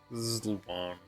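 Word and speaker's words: Ziluan: Zluan, I must ask you for one thing. Is that how it's supposed to be pronounced? I'm sure other people said it differently. Zlan like the eye is silent.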